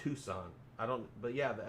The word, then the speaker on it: Tucson: out there somewhere out no it's it's not pronounced tuxen it should though it's tucson i don't but yeah the s and the